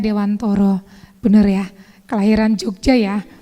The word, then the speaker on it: Dewantara: Iya Ki Hajar Dewantoro Iya nulisnya Dewantara membacanya Dewantoro bener ya kelahiran Jogja